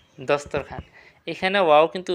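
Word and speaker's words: دسترخوان: মালিক সরদার বা জনাব খান খান মানে কি দস্তরখান খান মানে কি দস্তরখান এখানে ওয়াও কিন্তু উচ্চারণ হয় নাই সবগুলোতে খেয়াল করবেন যে যেকোন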